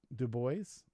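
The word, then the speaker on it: Du Bois: gonna take Carter be Woodson yeah it's actually pronounced in two boys do boys not do boy do boys all right I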